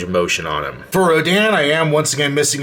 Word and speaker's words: Rodan: I am missing the nameplate that would read Rodan and reference the movie Rodan, or Radon, I guess I should say, seeing it's written in Japanese, and that's the Japanese pronunciation and spelling.